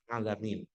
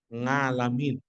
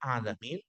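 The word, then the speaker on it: العالمين: ayat misalkan Alhamdulillahi rabbil alamin ya kalau kita di Jawa sering membacanya alhamdulillahiabbil ngalamin Iya Enggak ini kainnya sudah berubah ada beberapa yang ainnya kadang dibaca dengan Alif ini sangat-sangat merubah makna sekali Alhamdulillahi rabbil alamin segala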